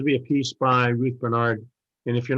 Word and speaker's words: Bernhard: be a piece by ruth bernard and if you're not familiar with the work of ruth bernard it looks like bernhard is the way it's but it's pronounced bernard uh look it up